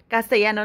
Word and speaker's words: Castellano: her entire Castellano and she can't even pronounce Castellano that's how you pronounce it Castellano not that you can